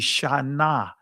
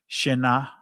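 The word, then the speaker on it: שָׁנָה: Because we pronounce uh the alaph the alaph in Israeli's called aleph. It's not silent in ancient Hebrew. Right? So, in ancient Hebrew, each letter will be pronounced. So, it'd be shanah, not shinah.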